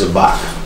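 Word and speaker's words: Zabach: And our elder is Priest Zabak. Priest Zabak. Can you spell that?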